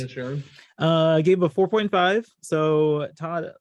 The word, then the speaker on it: Inisherin: That's how it's pronounced. Inisherin.